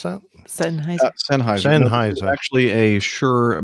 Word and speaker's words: Sennheiser: That looks like a nice Sennheiser. How do you pronounce that? Sennheiser.